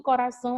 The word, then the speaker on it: coração: Aqui em coração a gente tem o são, que é a nossa sílaba mais forte, a nossa última.